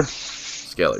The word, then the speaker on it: Skellie: Ryan Skellie, right? Am I pronouncing that right? Yes, sir. Skellie.